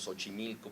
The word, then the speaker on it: Xochimilco: Veíamos su carácter múltiple en las pronunciaciones, porque los mexicanos decimos Xochimilco pronunciando la X como una S, decimos México pronunciándola como